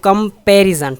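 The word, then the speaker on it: comparison: तो कंपैरिजन, ठीक है, पैर, ठीक है ना, पे जोर है सेकंड पे।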